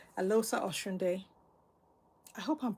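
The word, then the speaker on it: Eloghosa: It's Elosa, because I think the GH is silent. Elosa Oshunde.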